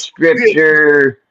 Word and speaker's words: Scrypture: Did I pronounce that right? It is Scripture. Yep, you got it, bro.